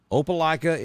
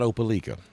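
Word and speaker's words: Opelika: from East Alabama because I know how to pronounce two things opala and WWII it's not woy and it's not open Le you're welcome Max hey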